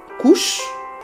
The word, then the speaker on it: Cush: Il y a Cush, prononcé aussi Couche.